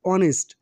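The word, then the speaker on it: honest: লক্ষ্য করো দেখো এডজেক্টিভ অনেস্ট এর ফাস্ট লেটার বা ফাস্ট আলফাবেট এইচ দিয়ে শুরু হয়েছে এবং এইচ এর উচ্চারণ ভাওলের মত বলে তার সামনে আর্টিকেল এন বসেছে এখানেও ইউ এর বাংলা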